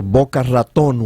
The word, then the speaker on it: Boca Raton: We're coming to you live from Boca Raton, or Boca Raton, which is the correct pronunciation.